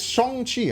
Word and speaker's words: Shang-Chi: Yeah, it's Shang-Chi.